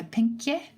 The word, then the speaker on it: pinkje: I'm not sure I'm going to pronounce this properly. It's Pinkje, so pinkje, maybe.